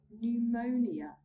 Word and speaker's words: pneumonia: We do not pronounce the P sound when it comes in a combination of PS, PT, and PN. Let's look at some examples. Pneumonia, pneumonia.